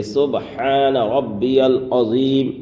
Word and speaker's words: سبحان ربی العظیم: کی تسبیح ہے کہ سبحان ربی العظیم، یہ صحیح تلفظ ہے، سبحان ربی العظیم۔ اب بعض حضرات کیسے پڑھتے ہیں؟ سبحان ربی العظیم، سبحان ربی العظیم، یہ پڑھنا بالکل غلط ہے۔ ہم کس طرح سے پڑھیں گے؟